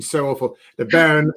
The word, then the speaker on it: Béarn: The Beaune near Laron. The Béarn. The Béarn. So that goes to show my pronunciation so awful. The Béarn.